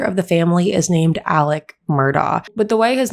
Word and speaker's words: Murdaugh: the family is named alec murdoch but the way his name is spelt you would think his name is alex murdoch however his name is alec murdoch i also want to